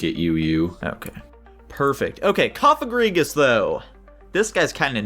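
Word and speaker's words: Cofagrigus: Okay, Koffagrigus though. This guy's kind of nuts. That's first. My brain's always thought this guy was named Cofarigus.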